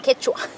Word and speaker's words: Quechua: Quechua.